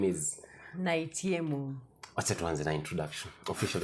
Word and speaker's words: Naitiemu: Naitiemu. Yeah, that was the name. Nimetry kuipronounce kimoyomoyo haikuji jamani.